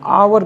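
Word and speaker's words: hour: और होती है तो जब भी एच के पश्चात ओ आ जाए तो उस कंसन में एच साइलेंट होता है जैसे एच ओ यू आर जिसको हम आवर कहते हैं आवर मीस घंटा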